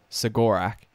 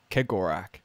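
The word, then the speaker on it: Cegorach: most common interpretation is segorak but yeah in a audio book some people were saying it it said kegorak with a k like pronounced with the k it's spelt with a c yeah really um but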